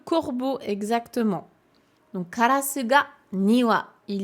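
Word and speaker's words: 庭: Pourquoi ici ça pouvait pas être niwa?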